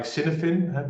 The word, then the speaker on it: Cynefin: You write it like Cynefin, but it's pronounced as Cynefin. It's a Welsh word.